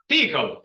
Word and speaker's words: TCL: understand what is TCL the right way to pronounce TCL is who knows in this class TI tickle wow you are an advanced